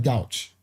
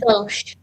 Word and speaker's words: gauche: They got the gouch. Pronounced gauche. Gauche. Okay. Gauche. I'm like, get your gauche self out of here.